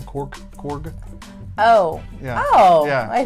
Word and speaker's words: Korg: he also plays uh cork the the rock man said you say his name korg oh yeah oh yeah